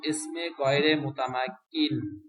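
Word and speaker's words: اسم غير متمكن: এটা পরিচয় সামনে আসতেছে শব্দটার উচ্চারণ হলো ইসমে গাইরে মুতামাক্কিন ইসমে ইসমে গাইরে মুতামা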